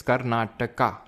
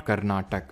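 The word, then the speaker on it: Karnataka: ठीक है सर इट्स कर्नाटका। नॉट कर्नाटक। So please pronounce it एज कर्नाटका। Okay Umesh पानी जी। एज यू से कर्नाटका। Okay not कर्नाटक।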